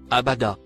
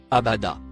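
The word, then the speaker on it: أبدا: Il se prononce Abada. Abada, se traduit par, à jamais.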